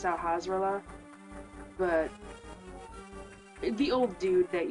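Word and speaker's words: Sahasrahla: go to find sahasa nobody knows how to pronounce his name I believe it's sahasa but the old dude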